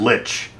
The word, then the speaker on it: lich: I've heard lick, I've heard lich, but I've never heard that space in between that he did.